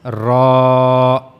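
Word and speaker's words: ر: So you have to use this part of your tongue and it will connect to the this part not to the teeth but to the gum. So that's how rah will be pronounced.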